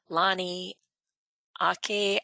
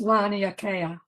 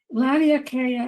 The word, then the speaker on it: Laniakea: that I know of, concept of Lani Ake. I'm sorry. Let me unmute you here because I probably murdered whatever that was. What is? I think it's pronounced Laniakea. Okay.